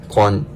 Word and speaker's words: 관: And then g sound, wo sound, and 관, kwon.